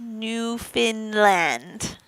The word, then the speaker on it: Newfoundland: me peggy murphy says newfoundland is pronounced new finland newfound finland new finland hi ashley what do